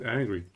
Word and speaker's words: Ng: The filter got very confused and didn't know that it's pronounced energy, you know? Energy. Oh, it's pronounced angry. Okay, I assumed it's pronounced energy.